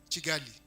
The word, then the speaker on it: Kigali: And the team that has traveled all the way from Kigali. Have I pronounced it well? Kigali or Chigali? Chigali. Yes.